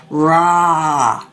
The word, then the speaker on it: rah: And the one syllable Sanskrit mantra is rah. Really like to make that sound and open the jaw nice and wide.